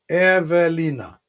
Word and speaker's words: Ewelina: Evelina. Perfect pronunciation.